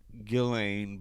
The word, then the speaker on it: Ghislaine: Like, Well, it's Giz in the name. It's pronounced Ghislaine, but I love to